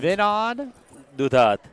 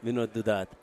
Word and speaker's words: Vinod Dudhat: How do you pronounce your name? Vinod Dudhat. Dudhat. Yeah, Vinod Dudhat.